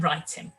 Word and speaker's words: writing: front of it and that w is silent okay so that w